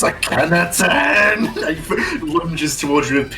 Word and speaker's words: Akhenaten: Akhenaten, and he's gonna purposely mispronounce his name. You can still come with us. Give up your so-called godhood. it's Akhenaten!